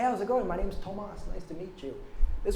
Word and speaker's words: Tomás: That's why my name is Tomás, a little accent on the A, which is just, it's too ethnic for how white I am to be Tomás.